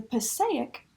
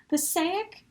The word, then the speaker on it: Passaic: Passaic is the company. I think it's pronounced Passaic, that's what I've been told, as it was potentially named after a town in New Jersey, although it could be